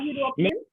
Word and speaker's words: European: Means it is starting, no doubt, it is starting with E, but it is giving the sound of J. So European.